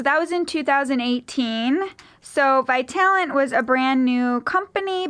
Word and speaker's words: Vitalant: have Brooke Derashan from Vitalent Vitalent. Vitalent formerly Bond Fes blood donation here today. Thanks so much for coming in. Yeah, everyone gets the name wrong so don't worry. It's vital talent.